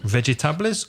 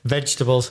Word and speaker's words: vegetables: Vegetables. How many syllables? Vegetables. 3 syllables. And which one is stressed from those 3 syllables? Which syllable is the strongest, más fuerte? The first one.